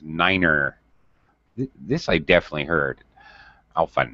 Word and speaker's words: niner: nose six seven eight nine is pronounced Niner this I definitely heard